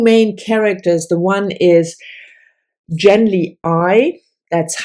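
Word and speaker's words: Genly Ai: we followed two main characters the one is gently I that's how I pronounce it and Estroven again the I is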